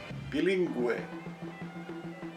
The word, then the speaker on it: bilingüe: Now listen to the sound in the next two words. Bilingüe, bilingüe, and pingüino, pingüino. It has a sound, and you know why?